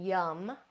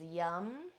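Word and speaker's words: yam: It's spelled R-A-M, but we pronounce it rum, rum. Now at the heart, this is my favorite one, yum, Y-A-M, yum.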